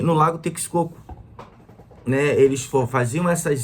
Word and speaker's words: Texcoco: Quando a civilização asteca ela começou a se desenvolver, ao longo do lago Texcoco. Eu posso estar equivocado da forma como se fala, mas é Texcoco ou Texcoco, ou Texcoco, acredito.